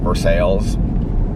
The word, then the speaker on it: Versailles: like um it looks like versailles but they pronounce it for sales this is true story you guys i'm telling